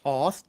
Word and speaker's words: Toth: it is someone like Alex Toth, or sometimes pronounced Toth, T-O-T-H, I don't emotionally trust minimalism.